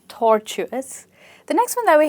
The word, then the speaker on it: tortuous: So it's a crooked path alright and you stress it at tor, tortuous.